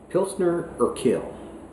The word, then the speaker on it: Pilsner Urquell: also have this beer pilsner or kale if that's the correct way to pronounce it i'm not sure you are q-u-e-l-l this is a czech